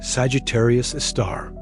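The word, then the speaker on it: Sagittarius A*: This super massive black hole designated Sagittarius A asterisk pronounced Sagittarius a star orchestrates the cosmic dance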